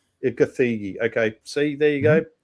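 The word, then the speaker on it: Gathegi: Is that is that how you pronounce his name? Ed Ciggy. Gthigi.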